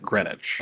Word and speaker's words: Greenwich: I mean, it's spelled Greenwich. That is true. It's just pronounced Greenwich.